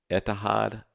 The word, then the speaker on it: Etihad: The second case, I believe it's pronounced etihad, it's etihad.ai.